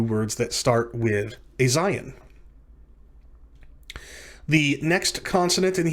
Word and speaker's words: Zayin: Next consonant in Hebrew Alef-Bet is Zayin. Zayin. Zayin is pronounced like the letter Z in the English transliteration Zion, or in the English word zebra.